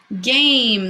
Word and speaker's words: game: saying anything last one game that a is saying it's name game it's a one syllable word it's a vowel consonant e the e is not saying anything it's not a game